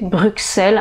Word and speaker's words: Bruxelles: donc je dirais que la bonne prononciation c'est bruxelles avec un x voilà un autre mot